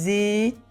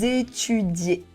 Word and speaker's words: étudiez: Vous étudiez. And here we really need to say de. We don't pronounce the z because z make the sounds vous étudiez.